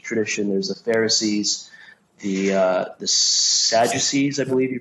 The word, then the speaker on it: Sadducees: There's the Pharisees, the Sadducees, I believe you pronounce it.